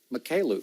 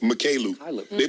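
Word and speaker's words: Mykhailiuk: Mikhailuk. Mikhailuk.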